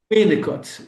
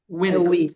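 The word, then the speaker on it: Winnicott: O a sílaba forte é nicot ou inicot? Winicot. É o I. Winicot.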